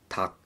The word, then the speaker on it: 닭: But keep in mind that some of the words for the 4 character syllables, we actually cancel the 3rd sound. So in this case, the lir is kind of cancelled, so it's going to be sound like 닭.